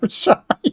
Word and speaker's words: Chey: It is pronounced Chey, even though it doesn't look like it. It's short for Cheyenne, if that helps.